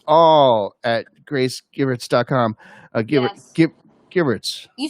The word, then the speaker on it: Givertz: Givertz.